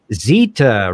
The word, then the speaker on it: Zeta: And Catherine Zeta rhymes with Cheetah Jones.